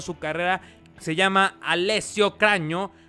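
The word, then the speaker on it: Cragno: Se llama Alessio Craño. Craño. Eh, cuando es GN en italiano se pronuncia como una ñ en español.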